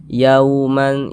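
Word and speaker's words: يَوْمًا: Nah, sehingga cara membacanya itu dia lunak ya, lembut. Ah, mudah saja. Yauman yauman. Nah, lunak seperti itu. Jangan ditekan-tekan ya. ee dilunakkan saja yauman seperti itu.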